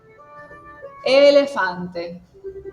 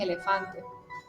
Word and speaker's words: elefante: Pero si lo voy a leer en italiano sería elefante. Bien. Elefante. Si lo digo en español es elefante, pero en italiano acentuó la primera, que en este caso sería la e, y diciendo elefante. Okay.